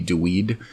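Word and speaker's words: דוד: what they say uh they come to dude d-u-d his name so in uh in uh chronicles it's spelled uh often d-u-y-d dweed uh but all through first and second samuel it's just dude d-u-d sorry man he's the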